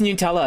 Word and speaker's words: Nutella: It's pronounced Nutella. It's not nut.